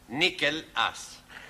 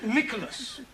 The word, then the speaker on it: Nicholas: upon a times there was a man called nickel ass what there was a man called nichel ass